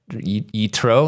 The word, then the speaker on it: Yitro: Yitro, did I say it right?